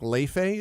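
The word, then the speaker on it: Laufey: Last year, they had Nora Jones there, and they had, I think, Leife is how you pronounce it.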